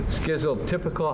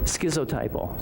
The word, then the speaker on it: schizotypal: This schizotypical, how do you say that? Schizotypal? Hey. Schizotypal.